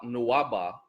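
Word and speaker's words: Nuwaubu: nuaba instead of and i'm spelling it like that because wah nuaba is how you would pronounce it in metaneta hieroglyphics um it's a lot of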